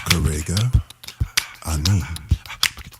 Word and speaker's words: Karega Ani: The name is Karega Ani.